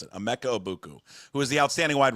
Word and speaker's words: Emeka Egbuka: Obeku, I know that's not how you pronounce his name.